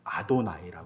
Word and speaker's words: 아도나이: 딱 나오면 어떻게 읽었냐 문자는 야외라고 써 있는데 눈으로는 발음으로는 어떻게 발음 아도나이 발음 있어요이 아도나이 나의 주님이라는 뜻입니다 항상 아도 나이로 발음해요 그래서 제가 학교 다닐 때도 히브리어를 읽을 때 항상 아도나이 야외가 나오면 야외라고 안 읽었어요 히브리어 문장 읽을 때도 아도나이 아고 읽었어요 이렇게 배웠어요 근데 이스라엘